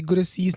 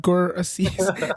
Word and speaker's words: Gurasis: and rolling of R's, like we in our country we say work not work, we say birth not birth, we Right. say Gurasis not Gurasis.